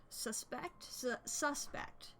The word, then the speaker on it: suspect: Like how there's words that are spelled the same, but it just depends on the emphasis. I don't know what those are called. I forget. Suspect versus suspect. If you put an emphasis on each syllable.